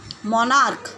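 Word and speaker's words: monarch: मोनार्क, मोनार्क क्या है, सी एच लग रहा है बट प्रोनाउंस कर रहा है के, मोनार्क, तो सिंपली एस लगाएंगे, मोनार्क्स, तो ये इसका प्लूरल फॉर्म हो जाएगा।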